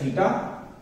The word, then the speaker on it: theta: It is pronounced as theta and written as this.